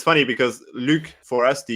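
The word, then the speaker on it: Luc: around you guys, are just like that sound, Luke, easy, like simple. You've met many people with that kind of pronunciation in their name, but even in Canada,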